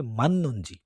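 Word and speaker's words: 맞는지: তো ওটার সবটা মাদনুনজি মানে এটা উচ্চারণ হবে মান্নুনজি। ইগে মান্নুনজি আরায়। জিওতের পরে নিয়ন থাকলে ওই জিওটের বাচ্ছিম জিওতটা চেঞ্জ হয়ে নিয়নের মতো উচ্চারণ হয়।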